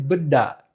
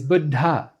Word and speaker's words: Buddha: Another wrong way is Buddha. Here there's no aspirated consonant in the second syllable. The correct way is Buddha.